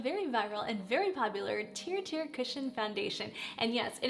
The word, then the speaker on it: TIRTIR: testing out the very viral and very popular tear tier cushion foundation and yes it is pronounced teer tier tiir trust in Radiance it started back in